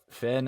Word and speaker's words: Phen: we have now yeah um but yeah so Finn I always kind of liked I I have